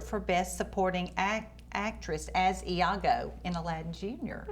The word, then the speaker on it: Iago: Now you were Iago.